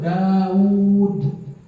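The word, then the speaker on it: داود: Namamu tuh Daud, ada waw 2, tapi ditulisan hanya jadi 1. Kalau dapat di naskah yang asli, wawnya 2, Daud. Tapi dibacanya apa? Daud, karena wawnya dicuri oleh si Amr.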